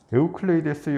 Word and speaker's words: 에우클레이데스: 그래서 1607년 17세기 명나라의 서광계가 마테오 리치와 함께 에우클레이데스의 원론, 이게 에우클레이데스는 유클리드입니다. 유클리드를 에우클레이데스라고 이제 발음을 하고요.